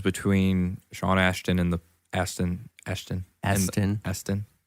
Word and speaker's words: Astin: sean ashton and the aston ashton astin aston shawn ashton aston aston aston aston aston aston aston austin it's not ash there's no there's no ash in there i mean i know there's